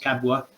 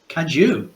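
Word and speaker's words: Cadw: I never know quite how that's pronounced. Cabwa, is it something like that? Cadu. Cadu.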